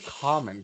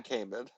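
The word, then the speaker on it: Kaman: I thought it was Common. Chris Common. It's definitely Cayman.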